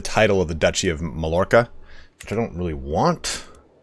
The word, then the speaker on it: Mallorca: It's pronounced Mallorca.